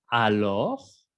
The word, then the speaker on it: alors: Tenemos la palabra alors. Alors. ¿Ok? No vayan a pronunciar la S.